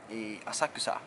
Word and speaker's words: 浅草: And then we arrived in Asakusa (浅草). I have always pronounced it incorrectly like /asakʉːsa/ instead of /asaku͍sa/.